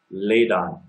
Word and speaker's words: Ladon: one working on which I believe is pronounced laid on and laid on is